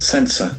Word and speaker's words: sensor: Here we have got softs sound sensor and letter S also has got S sound. It's very interesting observation. Sensor. Here the accent falls on the first syllable.